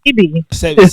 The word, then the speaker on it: Sebi: It's not even Sebi, it's CB.